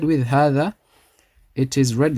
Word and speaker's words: هذا: The ha is stretched 2 counts. It's read like this. However, it's written like this. We omit this alif. After the ha, it's not written. It's only read but not written.